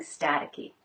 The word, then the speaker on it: staticky: your clothes from getting staticky. Static. Staticky. T's in beginning clusters are usually true T's. St, st. The second T is a flap.